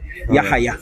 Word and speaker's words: Yahaya: No, pronounce the H hard. Yahaya.